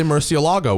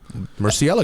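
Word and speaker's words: Murciélago: pronounce that correctly nobody no one puts the exit in the right place right they all say Murcielago which is wrong mercy Ella I've been working on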